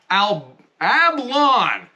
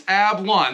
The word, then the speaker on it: Ablan: We are here today with Ablan. I wrote it down and I said it wrong again. I'm looking at here. It's Ablan.